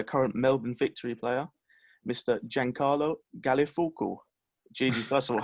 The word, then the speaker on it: Giancarlo Gallifuoco: Giancarlo Gallifuoco. Gigi, first of all, how was that pronunciation?